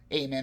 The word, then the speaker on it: Amon: over by the demon iman or eamonn amen i believe is the correct pronunciation and but he maintains